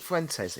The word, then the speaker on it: Fuentes: Nick Fuentes.